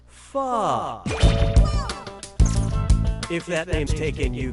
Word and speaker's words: Pho: This delicious soup is pronounced Pho.